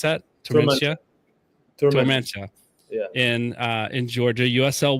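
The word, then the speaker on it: Tormenta: Is that how you pronounce that? Tormentia.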